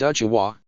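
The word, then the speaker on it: うちわ: It's pronounced uchiwa, but it's written uchiha, because the ha character takes on the wa sound.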